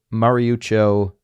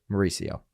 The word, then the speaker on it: Mauricio: the way and uh mary mariuccio i just butchered his name mauricio maria when i read sometimes by the way when i'm reading and talking sometimes i completely butcher people's names it's mauricio all right uh from the